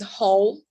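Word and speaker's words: 猴: one is a monkey its pronunciation is whole and the right one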